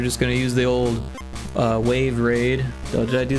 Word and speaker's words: WAV: I could do that, but we're gonna change it to WAV because that's how I spell my studio. But it's pronounced wave, so you're not wrong there.